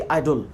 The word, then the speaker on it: idol: आइडल, इसकी pronunciation होगी आइडल।